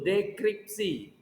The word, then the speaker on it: dekripsi: Ya harus di dekrip dulu, dekripsi. Bukan deskripsi ya, dekripsi. Dekripsi.